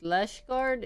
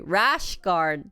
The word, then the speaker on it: rash guard: Lash guard is... 뭐라고 해야 돼? lash guard 영어 뭐야? 이게 콩글리시였어? Is that Konglish? Rash guard? How do you pronounce this? Oh, sorry. Rash guard, not lash guard.